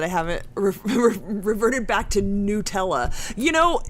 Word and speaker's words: Nutella: Adele said she's very proud to hear that I haven't reverted back to Nutella. You know, it's the logic of it. It's N-U-T, which is pronounced nut, so why would it be Nutella?